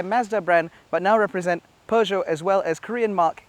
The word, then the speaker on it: Peugeot: peugeot as the brand is correctly pronounced has had a little bit of a